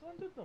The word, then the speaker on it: Llandudno: Do you want me to read that so I can say how to pronounce it? Llandudno. It's Llandudno.